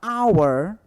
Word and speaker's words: hour: casa Porém na palavra our hora tá o h ele não é pronunciado eu sou um DH